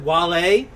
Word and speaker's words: Wale: Is it Wale?